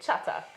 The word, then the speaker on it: Chatak: so it's chatak so just how you say it chatak yeah yeah it feels